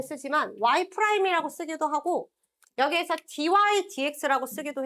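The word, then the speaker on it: dy/dx: y프라임이라고 쓰기도 하고 여기에서 dydx라고 쓰기도 해. 자, 얘는 읽을 때 분수처럼 읽으면 안 돼. dx분 dy라고 읽으면 어디 가서 무식하다는 소리 들어? 위에서부터 dy dx라고 읽는 겁니다.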